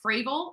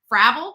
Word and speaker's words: Frable: get started with Adam Frable I keep wanting to call him Fravel because it rhymes with travel right we followed the